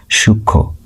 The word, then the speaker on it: সূক্ষ্ম: সূক্ষ সূক্ষ উচ্চারণ হবে।